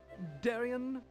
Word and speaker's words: Darian: By the way, my name's Darian. Darian the librarian. Thanks, Darian. You're welcome, It rhymes.